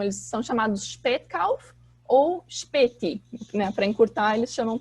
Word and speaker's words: Spätkauf: Então, vocês provavelmente repararam na minha pronúncia que o S, quando ele vem, por exemplo, antes de P ou T, ele tem esse som como se fosse um CH, Spät, né?